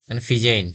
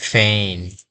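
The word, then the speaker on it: feign: এ আই জি এন এ উচ্চারণ করি ফেন ফিজেইন এরকম উচ্চারণ করি কিন্তু এখানে শব্দের শেষে আমাদের জি এবং এন থাকার কারণে আমাদের এখানে উচ্চারণটা আইনের মত হবে যে তখন উচ্চারণ হবে ফেন ফেন ফেন অর্থ উদ্ভাবন করা তারপর আমরা যদি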